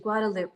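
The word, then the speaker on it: Guadeloupe: what you all have to say yes good pronunciation guadaloop okay thank you my dear thank you thank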